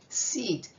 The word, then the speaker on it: seat: Same thing with E-A. E says her name. The A is silent. Seat.